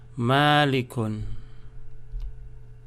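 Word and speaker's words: مَلِكٌ: Here you have M-A-A ma, L-I li, K-U-N kun, malikun.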